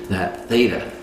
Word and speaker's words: theta: And so for people who don't know about theta, is that how you say it?